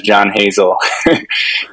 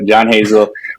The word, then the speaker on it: John Hazel: in the world so I introduced myself as John Hazel as like uh as like almost like a one-syllable thing so John Hazel or one phrase so and then stark